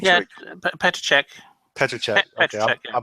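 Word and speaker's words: Petříček: Petrick? Yeah, Petracek. Petracek. Okay, I butchered that.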